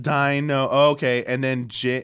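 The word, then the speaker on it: Deino: that's we pronounced that so it's ein like the number one in German Dino okay and then like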